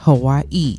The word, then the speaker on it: Hawaii: from guess we're obviously Hawaii yes yes Hawaii that's the proper way to say it yes I learned that